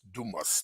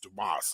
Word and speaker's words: Dumas: and the pronoun the the correct way to say the name is Dumas Dumas okay and we was